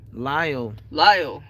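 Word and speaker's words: Lisle: Oh, tell them we're near Lyle. Is that one of those silent letter ones? Well, I just read Isle with an L. Lyle.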